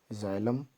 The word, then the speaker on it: xylem: तो यहाँ पर सबसे पहले जाइलम देख लीजिए, इसकी स्पेलिंग XYLEM, जाइलम।